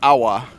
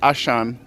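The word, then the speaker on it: Auchan: And then you can just see behind Awa, actually it's pronounced Ashan, and that's one of the biggest supermarkets, I think, in Moscow as well.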